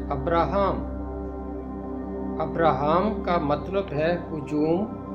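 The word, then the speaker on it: אברהם: باپ، یعنی حضرت ابراہیم۔ ابراہیم کا عبرانی تلفظ ہے ابراہام۔ ابراہام کا مطلب ہے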